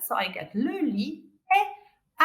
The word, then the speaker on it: lit: If I look into the word lit, don't pronounce the T, lit, the bed, I will need, what will I need at the front?